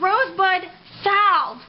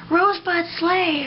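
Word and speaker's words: Rosebud Salve: she bought and and she bought Rose Bud sal sal but the witch watched the video and this girl just terribly mispronounced the word and kept calling it Rose Bud sleigh oh my goodness what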